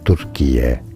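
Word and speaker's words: Türkiye: Turkiye is how you say Turkey.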